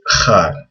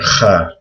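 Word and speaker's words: خ: And this is also hard to pronounce. But people usually write a KH for Kha. It's similar to, like in Hebrew, people say Chanukah. It's the exact same sound in Arabic.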